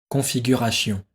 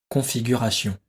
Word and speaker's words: configuration: mot réponse un configuration réponse deux configurations sion configuration si on configure sion il faut prononcer configuration réponse 1 il s'agit